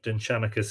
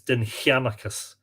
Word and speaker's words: Dindshenchas: The Dindshenchas mentions, by the way, probably the correct pronunciation of Dindshenchas is Dindshenchas. I know, I'm probably slightly mispronouncing it, and it's just a long time habit. It should probably be either Dindshenchas or Dindshenchas.